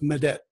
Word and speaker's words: medet: imdad and medet so in turkish it's pronounced madet to give me help